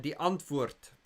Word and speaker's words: Die Antwoord: And die Antwoord, that's how you say it in Afrikaans. That means the answer in Afrikaans.